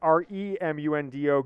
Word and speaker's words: Raimundo: Raimundo Martinez, which is Remundo, go blue.